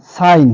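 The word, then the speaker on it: sign: name নাম cake cake এরপরে জি এন এর আগে জি থাকলে এন এর আগে যদি জি থাকে কিংবা জি এর পরে যদি এন থাকে তাহলে কিন্তু জি সাইলেন্ট হবে এর উচ্চারণ হবে না সাইন সাইন মানে হচ্ছে স্বাক্ষর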